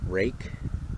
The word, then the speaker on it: Ruike: and I've been told by multiple knife reviewers that this is pronounced rake, but that's not how it's spelled. So I'm going to continue to call it Ruike until they change the spelling.